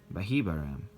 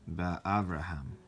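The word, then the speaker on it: באברהם: pronounce it Bahibaram, but Ba'avraham. And so they're saying, do not pronounce it Bahibaram, but Ba'abraham, meaning in Abraham.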